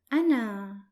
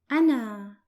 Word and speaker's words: أنا: The first pronoun, I or I am in English, is pronounced in Arabic as أنا, أنا, and it's written like this.